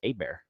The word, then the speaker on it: Hebert: Well, if your name is spelled like that and you're from Louisiana, it's Abear.